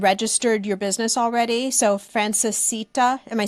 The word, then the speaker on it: Francesita: already established and registered your business already so Frances Sita am I saying it right yes Frances the